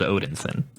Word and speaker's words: Odinson: galaxy and he's just Odinson dalton can you spell that for me because it sounds like it should be Odin son it is Odin so that's that's like